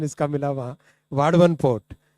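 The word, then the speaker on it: वाढवण: इसको वदावन मत बोलिएगा ना, वाडवन है इसका करेक्ट नेम। महाराष्ट्र में काम कर रहा हूँ ना तो मुझे करेक्ट प्रोनाउंसिएशन इसका मिला वहाँ, वाडवन पोर्ट।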